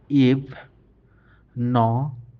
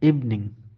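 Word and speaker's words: evening: তারপরের উদাহরণটা হচ্ছে ই, ফ, ইভ। ন, ই, ইং, নিং, ইভনিং, ইভনিং। অনেক সময় আমরা ইভিনিং বলি, কিন্তু আসলে এর সঠিক উচ্চারণ ইভনিং।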